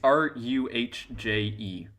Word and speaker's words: Rouget: Rouget. Rouget or Rouget. It's Ruhje.